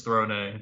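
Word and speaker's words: Throné: yeah oh it's Verona that's how you pronounce her name yeah no it's not thrown it's thrown a the like kind of apostrophe like sort of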